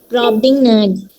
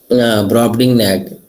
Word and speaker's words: Brobdingnag: Can you pronounce it? Brobdingnag. Brobdingnag. Voyage to the Brobdingnag.